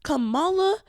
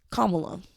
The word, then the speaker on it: Kamala: my observation of him Cala sorry Kamala I know pronunciation kamla Harris period she is very